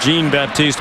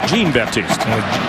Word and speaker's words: Jean-Baptiste: Stanley jean-baptiste the coverage it is pronounced jean-baptiste by the way for a while then call jean-baptiste Nicole the husker ports administration staff that it is jean-baptiste Gina Jean Jean right